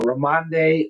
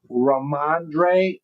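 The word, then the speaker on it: Rhamondre: Uh uh Ramande Ram Stevenson. Did I say it right? Let's see. Raandre.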